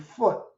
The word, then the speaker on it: Put: of them brandishing their swords Persia Kush and foot p p t but pronounced p u t will be with them